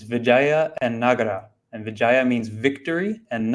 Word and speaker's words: Vijayanagara: The key to remember is that it's actually two words, Vijaya and Nagara.